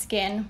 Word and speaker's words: SKKN: to happen with the skkn brand well it's pronounced skin but i do like that the name kind